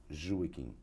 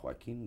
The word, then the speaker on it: Joaquim: all kinds of pronunciations the correct one is jewish but i'm called you know the spanish call me joaquin the french call me joachim they telling italian so any pronunciation goes i'm used to it and then the